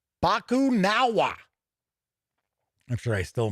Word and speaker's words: Bakunawa: on a rampage they must track down the bakuwan bakunawa i guess i should say bakunawa i'm sure i still mispronounced it and discover the reason for its